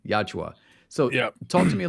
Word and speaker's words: Yautja: The Yautja. Yautja.